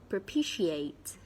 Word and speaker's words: propitiate: per P she AIDS there are four syllables and the stress is on the second syllable so we have / / / P she remember strong as she ate propitiate propitiated propitiate means regained